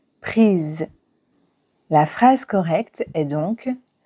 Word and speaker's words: prises: photo est féminin pluriel il convient d'ajouter e s au participe passé prix et de le prononcer prise la phrase correcte est